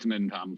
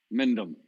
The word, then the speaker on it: Mindam: You still can't pronounce my name. I do it deliberately now because I know you don't like it. It really bothers me. It really does. Mintam. Mindam. Right, it's Mindam.